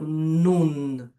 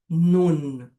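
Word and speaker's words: נון: A gente fecha também para pronunciar. Então, nun nun, a gente joga a língua pro palato e faz um esforçozinho para pronunciar o nun.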